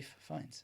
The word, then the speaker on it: Fiennes: I believe that Prada correct pronunciation is Fiennes yeah ray finds it even has it